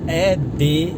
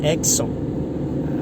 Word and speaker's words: Edson: No espanhol, se eu não me engano, a pronúncia Edson é Exxon, algo parecido assim. No inglês eu não sei bem se seria Edson, Edison, não sei o inglês, mas eu sei que a pronúncia varia por causa do idioma.